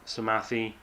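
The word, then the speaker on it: Psamathe: will be Olympus on the planet Samathi, which is apparently how you pronounce it.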